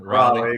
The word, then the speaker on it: Raleigh: So real quick, driving distance, any major cities close to Raleigh? Is that how you say it? Raleigh, exactly.